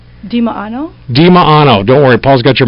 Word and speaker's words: Dimaano: how do you say your last name diano dimaano don't worry Paul's got your microphone already on